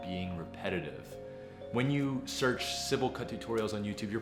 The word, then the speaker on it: Sybil: because I learned that it's not Seibel it's Sybil you guys cyberbully me